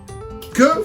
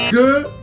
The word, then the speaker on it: que: So, que fais-tu? Que fais-tu? No, que fais-tu? No, not cool. Que fais-tu? Que fais-tu? I'm hearing Q. It's not Q either. It's que. It's spelled Q-U-E. So, que.